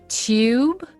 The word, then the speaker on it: tube: two oh those two one is to yi tube the other one is tube oh so the first one is a little bit like separated i would say so yes gu and the next one is chew chew oh wow that's so